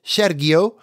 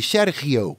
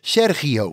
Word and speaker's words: Sergio: asked them about it the correct way to say his name is not like I said Sergio but closer to what you said Z you soften the G Serio okay but certainly not Sergio under any circumstances Serio is how they say